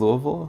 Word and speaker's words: Louisville: from Louisville Kentucky yeah Louisville that's how you pronounce it alright Louisville not on this Louisville Louisville Louisville like you have like rocks in your mouth or something yeah that's up you